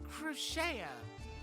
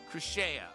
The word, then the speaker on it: Crooksie: My name is Crooksie. Oh. Oh. Pronounced Crocheta. but spoken quickly. Crocheta. Okay.